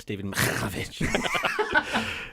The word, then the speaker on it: Mihaljevich: I believe it's pronounced Stephen Mihaljevich.